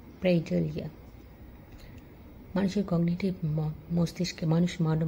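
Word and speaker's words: pareidolia: এটাকে বিজ্ঞানের ভাষায় বলে পিওরডলিয়া। উচ্চারণটা হবে প্রেডলিয়া।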